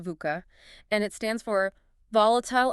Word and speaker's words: VUCA: Yeah, VUCA, it's pronounced VUCA, and it stands for volatile, uncertain, complicated, and